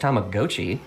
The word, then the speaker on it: Tamagotchi: Tamagotchi, I found out it's pronounced Tamagotchi last week.